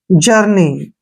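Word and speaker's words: journey: को ई की मात्रा पढ़ेंगे, ऐसे देखिए, ऐसे जर्नी, आप आराम से इसको ऐसे भी लिख सकते हैं आसानी से, जर्नी।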